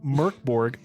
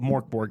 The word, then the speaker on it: MÖRK BORG: Uh we're playing Merkborg or we're going to call it Morborg cuz we're Americans. Uh and we pronounce things improperly.